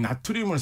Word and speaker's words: 나트륨: 근데 리튬 바로 밑에 있는 게 바로 나트륨. 요즘은 이제 영어식 발음으로 소듐이라고도 많이 하죠.